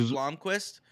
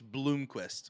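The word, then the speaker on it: Blomqvist: yeah yeah it's pronounced Blomquist why is everyone telling me it's Bloomquist TST somebody else in the conversation there two o's it's not there's not two o's there's one o there's one o see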